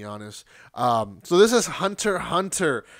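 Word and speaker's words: Hunter × Hunter: um so this is hunter hunter you don't pronounce the x as far as i know it's like high school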